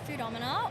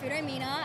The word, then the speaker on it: Futama: Well, the name of our game is Futama or Futomina as a lot of people mispronounced, but honestly, I think it sounds a bit better.